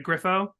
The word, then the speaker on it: Griffo: we're talking to you Jack Griffo and I'm pronouncing that right right Griffo that's right that's right okay so uh and